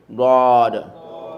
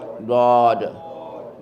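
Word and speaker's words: ض: And the last box line number three, God. God, God. God, God. So that is pronounced from the side of the tongue.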